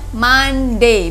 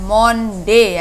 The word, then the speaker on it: Monday: Anggi Today is Monday ingat saja nya Monday bukan Monde ya diingat-ingat di anak-anak Monday Today is Monday Today